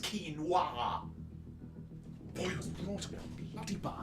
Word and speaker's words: quinoa: It is pronounced quinoa.